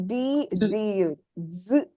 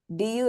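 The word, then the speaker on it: づ: particular sound and uh what is the actual pronunciation of this Ka right it is d z okay d z z but if you type D Zu it doesn't work it doesn't show up so the typing is du du is not the pronunciation but you use du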